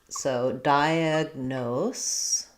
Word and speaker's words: diagnose: We have the S sound at the end, and we're stressing on that last syllable, nose. So we have a clear no, O diphthong. And then the first letter I has secondary stress, so it's also a diphthong, die.